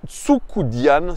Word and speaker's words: Tucudean: 7 ans 1 M86 c'est George tukudian c'est comme ça qu'on prononce son nom en en roumain alors c'est c'est un